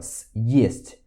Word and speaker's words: съесть: Então a gente faz assim, ó, съесть, съесть, para poder dar essa ênfase, ok?